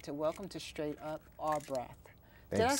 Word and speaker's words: Ar'braf: And I'd like to welcome to Straight Up R. Braff.